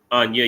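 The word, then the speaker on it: אני: But Anya, you get the point though, right? Anya is how you say I in Hebrew.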